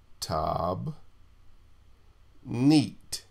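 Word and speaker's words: תַּבְנִית: word for pattern is and the way you pronounce this this would be tab neat tab neat okay and it's a structure by implication a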